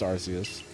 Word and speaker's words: Arceus: quite a state is it arceus or arceus well uh in japanese it's darcias and so i would say it's ours i would say it's arceus i they've they've like got an official pronunciation and i believe it's arceus relax i've gotta